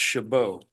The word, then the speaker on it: Chabot: I believe the name is pronounced Chabot.